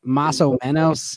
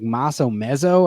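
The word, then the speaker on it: más o menos: Like, instead of saying maso menos, it was like maso mezzo.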